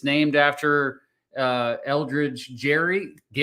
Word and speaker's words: Gerry: It's named after Eldridge Gary. It's actually pronounced Gary, but gerrymandering is what